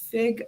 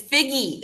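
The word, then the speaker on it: Figge: incorrectly so i'm sorry is it fig art museum it's figgy art he's gonna sing so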